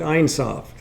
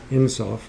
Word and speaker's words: Ein Sof: Now, the other day, Adam mentioned Ein Sof. I think he pronounces it Insof. I believe it's pronounced either way.